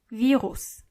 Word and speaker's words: Virus: Virus is the same as in English, but the pronunciation is different. Virus.